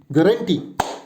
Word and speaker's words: guarantee: So the correct pronunciation for this particular word is GARUHTEE. Guarantee.